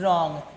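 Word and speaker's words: wrong: रॉन्ग लेकिन रॉन्ग देखो यानी क्या हो जा रहा है देखो यहां से रॉन्ग आर ओ एन जी रॉन्ग लेकिन स्पेलिंग क्या है हमारा डब्ल्यू आर ओ एन जी रॉन्ग तो हम लोग डब्ल्यू क्या करते हैं साइलेंट कर देते हैं वो क्यों साइलेंट करते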